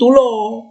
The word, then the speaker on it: tulo: Kalau ini tulo, beda ya. O. Ini O, ini O. Ini tuli artinya. Tulo. Ini tidak sama ya.